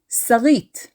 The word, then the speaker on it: Sarit: to the birth of the name sarit stressing the last syllable this eat suffix led